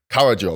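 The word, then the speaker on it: Caradryl: one one more time carrill Carill that's do syllables do it syllables c a r a d r y l carrill Kakarot Kakarot that's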